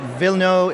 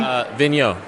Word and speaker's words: Vigneault: issue by issue in hard copy is Francois Villeneuve. Is that how you pronounce his name? Vigneault. Vigneault's Titan, which we really like as well.